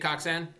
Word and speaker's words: Koczan: okay how is it uh I take coxan I don't really like pronunciation has varied forever uh even in my family I take coxan Coan Coan whatever okay whatever this is if